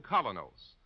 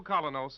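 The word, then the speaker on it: Kolynos: is start cleaning your teeth with the new Colinos, a high polishing toothpaste.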